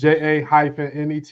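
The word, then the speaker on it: Ja'Net: It's JA-NET, yo. Yeah. There it is. Yeah, that's the type. I need to draw. T is silent.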